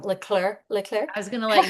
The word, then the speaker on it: Leclerc: Katie, I think I'm gonna say her last name wrong. Leclerc.